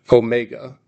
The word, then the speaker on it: omega: I'll just skip ahead a little bit to its counterpart, omega. Omega is a long O sound, as in vote.